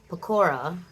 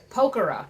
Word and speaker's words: Pokhara: So now we're here in Pecora. Pokhara. This girl is just... her pronunciation...